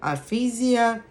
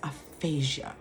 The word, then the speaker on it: aphasia: smarter that way right so aphasia aphasia no it's aphasia right and so what's